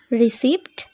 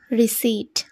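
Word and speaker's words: receipt: word দেখে নেওয়া যাক আর ই সি ই আই পি টি এই ওয়ার্ডটাকে আমরা প্রোনাউন্স করবো কিভাবে রিসিভ না একেবারেই ভুল হয়ে যাবে তাহলে আমরা এখানে উচ্চারণ করবো রিসিভ অর্থাৎ রশিদ কি বলবে রিসিভ নেক্সট আছে এম ই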